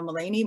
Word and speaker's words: Melanie: i am melanie it's pronounced uh mullany but spelled melanie and i'm named after